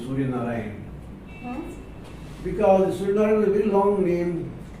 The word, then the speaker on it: Surya Narayan: The school was run by Spanish missionaries from Spain, and they couldn't pronounce my long name, Surya Narayan, Huh?